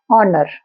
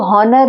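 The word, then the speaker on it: honour: thanks for this ऑनर ऑनर के spelling H ओ एन ओ यू आर ऑनर इसको हनर नहीं बोलेंगे एच जो है यहां पर साइलेंट है इसी तरह से नथिंग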